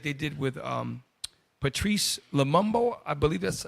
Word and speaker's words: Patrice Lumumba: Okay, just like they did with Gaddafi, just like they did with Patrice Lumumba.